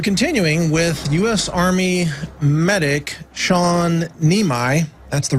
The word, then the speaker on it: Sean Niemi: We're continuing with US Army medic Shawn Neimi. That's the right pronunciation.